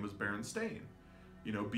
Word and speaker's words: Berenstain: through the rabbit hole their name is always pin Berenstain ever since they came into existence their name has been Berenstain it has been called the Berenstain Bears it's spelled AI n and this is something that a lot of people are like no it's Berenstein but other people like